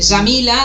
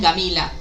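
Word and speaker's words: Jamila: y los egipcios, ¿no?, que pronuncian la yim como una guim, bueno, esto para los ners del árabe, e dicen, por ejemplo, en vez de Yamila, dicen Gamila, ¿no?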